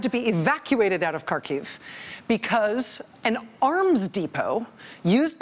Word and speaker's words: Kharkiv: city in Ukraine called Kharkov I don't know exactly how you pronounce it k har ki V Kharkov Kharkiv it's an eastern Ukraine it's